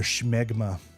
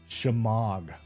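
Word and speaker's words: shemagh: I think we did just say it right. I've I've struggled with that one. I know it wasn't called schmegma. Like I know that wasn't the case, but I did always struggle with the pronunciation of that one.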